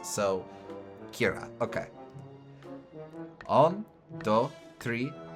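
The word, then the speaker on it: ceathair: But I do forget that Irish has a lot of uh uh Irish Gaelic has a lot of letters that you don't pronounce. So Kira.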